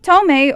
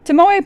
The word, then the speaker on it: Tomoe: Tomei, or the way I'm actually supposed to be pronouncing it but didn't realize it until just now, Tomoe previously mentioned the mirror